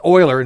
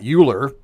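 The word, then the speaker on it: Euler: also know that like Oiler is Oiler not uler so I got those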